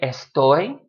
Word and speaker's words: estoy: a great example but a word like estoy two syllables it's not a story it's a story the stress goes on that last syllable so in general in